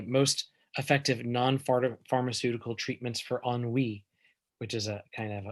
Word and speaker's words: ennui: hop to the most effective non-pharmaceutical treatments for enwy which is a kind of a french term